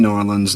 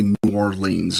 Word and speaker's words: New Orleans: That's how you say it. New Orleans. New Norans. New Orleans. New Norans or Norlands or however it is you want to. There's variations on it.